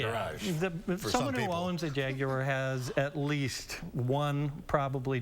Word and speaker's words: Jaguar: But the animal is a Jaguar. Certainly that's how we would pronounce it. Fight nice, boy. British pronunciation. Yes, the British pronounce it Jaguar, just like the Germans pronounce Porsche, Porsche.